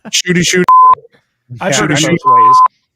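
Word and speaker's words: Ncuti Gatwa: Shitty. Shitty? Did you say shitty? Shitty. Shitty Gatwa? No, shooty. It's shooty. Shooty Gatwa. Shooty. I heard Okay. shitty. I was like, Shooty.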